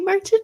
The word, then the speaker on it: Merchant: girl ever happy anniversary Merchant and I know I keep saying your name wrong cuz um we when when we were meeting his cousin's like just say marching like you're marching along and so I told